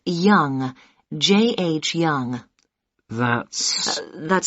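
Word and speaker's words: Yonge: now can i have your name yes it's young j.h young young that's spelled y o n g e that's young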